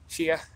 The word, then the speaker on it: Chia: hey what's going on there Patti what's up Chia that's how it's pronounced and Wow I haven't seen one of